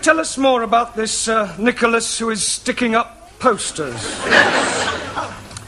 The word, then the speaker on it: Nicholas: upon a time there was a man called Nikhil us once upon a time there was a woman called Nikhil it's pronounced Nicholas all right once upon a time there was a man called Nikko last he was supposed to man poster man a